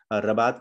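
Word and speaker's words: Rabat: रबात kingdom में, Morocco में, रबात जगह का नाम है, रबत या रबात या राबत, जो भी इसको प्रोनाउंस करते हैं, वैसे रबात करते हैं।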